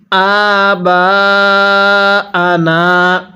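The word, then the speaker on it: آبَاءَنَا: আবা আনা। এইযে হামজা এর মধ্যে আমরা এক আলিফ টান দিব এবং বা এর মধ্যে চার আলিফ টান দিব।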